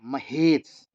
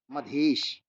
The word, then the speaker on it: मधेश: नाम है बघेल या महेश, मधेश। सही प्रोनाउंसिएशन मेरा नहीं हो पा रहा है, मधेश उसे कहते हैं, अब जैसे उसका उच्चारण हो मैथिली में।